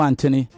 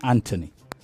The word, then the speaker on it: Anthony: is Anthony, even though it's a T and an H. I heard you a couple of times call yourself Anthony. Do you understand? Yes, you did. I heard you. This is the way we pronounce it. It's Anthony. Okay? Okay. Yeah. I guess it's the American pronunciation.